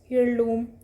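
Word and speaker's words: heirloom: हैं, जैसे year, हियरएस, हियरलूम, honest, तो इसमें जो एच है ना वो साइलेंट है. इनके पहले भी क्या आता है, एन का यूज़ किया जाता है. एच इसमें साइलेंट होता है.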